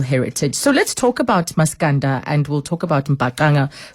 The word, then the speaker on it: Maskanda: They call it Maskandi, and we even accustomed ourselves, pronouncing it like that, Maskandi, but it's Maskanda. Maskanda is the Zulu.